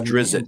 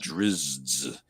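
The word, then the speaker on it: Drizzt: of his books I never was drizzit not driz you know yeah I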